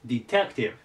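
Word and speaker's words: detective: これでディテクティブですディテクティブえっとアクセントがここにきますディテクティブでこれは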